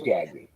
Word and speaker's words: Gagne: great twin shortstop ever great gagne pronounced gagne though didn't he yeah he was gagging yeah not gone yet gone i can only imagine